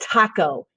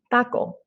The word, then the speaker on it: taco: coming on your mouth in english i'm gonna go eat a taco taco it's really harsh sounding and the um you know spit is coming out of your mouth but in spanish since you're going to make you're going to put your tongue right there and it's going to be kind of like a th kind of like a soft d slash th the word is taco oh there's like no